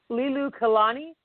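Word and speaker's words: Liliuokalani: And in 1891, his sister, Lilu, I can't even pronounce this. I'm going to butcher this name. It's Lilu Kalani, I think that's how you say it.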